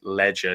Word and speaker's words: Leger: Leger, not spelt with a D. It is just the Leger, Leger.